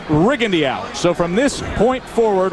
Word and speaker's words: Rigondeaux: well if you're wondering his name has been pronounced rendo through most of his amateur career but in prepping for this fight the camp was very clear in saying that the preference is rig Andy out so from this point